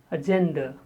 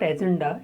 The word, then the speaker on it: agenda: Agenda. It is not agenda, it is agenda.